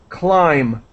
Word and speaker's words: climb: here is completely silent we do not pronounce the b climb climbers climbers all right